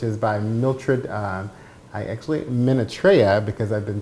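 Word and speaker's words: Minatrea: God's heart which is by Mildred I actually minute Raya because I've been pronouncing it Menaka for a while so thank you for the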